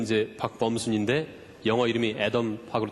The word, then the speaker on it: Adam: 박범순 있데 영어 이름이 애덤으로 되 있습니다 왜냐면 제가 학부 때 전공이 원자핵을 전공을 했기 때문에 그때 애의 이제 미국식 발음이 애덤 하고 똑같아서 덤이라 이름을 쓰고 있습니다